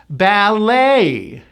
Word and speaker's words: ballet: This word comes from the French. We do not pronounce the T. It is simply the A sound, which you have to shape. A, and the stress is on the 2nd syllable. Ballet.